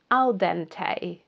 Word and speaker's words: al dente: Al dente. A lot of words which come from Italian and French, when they have an E at the end, it's pronounced A in English.